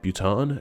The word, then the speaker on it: Bhutan: The H is silent in the names of the nations of Bhutan, Ghana, Thailand, Liechtenstein, just to name a few.